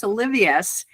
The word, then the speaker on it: Olivas: So our second guest today is Carlos Olivas. Am I pronouncing that last name correctly? Olivas.